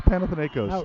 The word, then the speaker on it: Panathinaikos: I'm like, it's Panathinaikos.